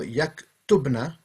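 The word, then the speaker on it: يكتبن: So yaktubna is how you would say they all write, women.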